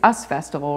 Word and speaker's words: Us Festival: Well, I do want to ask about the, is it pronounced Us? It's not you, it's Us Festival, right? Us it's Festival. Not like US Festival right, or us.